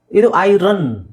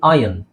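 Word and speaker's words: iron: American ಪ್ರೊನನ್ಸಿಯೇಷನ್ okay next ಇದು ಐರನ್ ಅಂತ ಹೇಳ್ತೀವಿ ನಾವು ಐರನ್ ಇಸ್ ಓಕೆ ಬಟ್ ಅದರ ರ ಹೇಳೋ ಅವಶ್ಯಕತೆ ಇಲ್ಲ ಅದ ಯನ್ ಯನ್ ಅಂತ ಹೇಳಬಹುದು ಕಬ್ಬಿಣ ಯನ್ ಐರನ್ is okay but ಯನ್ is perfect okay ಸ ಓಕೆ ಬೇರೆ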